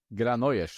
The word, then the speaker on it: Granollers: I call him Granollers, yeah. Whatever his name is. How do you say it? Granollers, I think, yeah. Granollers? The double L is a J, right?